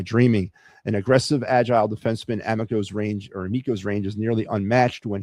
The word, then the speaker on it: Amico: And this is an interesting young man right here, Carter Amico, Amico, I think he pronounces it, the right-hand defenseman from Boston University of the NCAA.